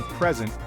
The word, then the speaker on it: present: For example, the word present can be a noun, a gift, or a verb, to give. The stress is on the first syllable for the noun and on the second syllable for the verb.